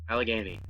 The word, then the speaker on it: Allegheny: taught me how to say that name correctly Allegheny alligator you have some stuff online um